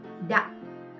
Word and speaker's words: Đặng: Next word, next last name, we got Đặng.